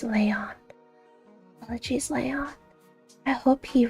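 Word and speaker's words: Léon: Leon, I see that's pronounced Leyon.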